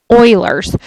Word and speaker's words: Euler: I know it looks like Euler, but it's actually pronounced Euler's.